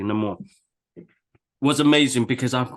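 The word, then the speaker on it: Namor: I mean talukan and Neymar Neymar and more no more let me pronounce that properly no more it was amazing because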